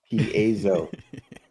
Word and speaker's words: Piezo: Piezo comes from piezen, which is the Greek word for to press.